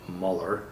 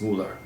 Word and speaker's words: Mueller: Counsel Robert Mueller endoscopy will pronounce it Muller budgets a German name and it's Mueller and he was completely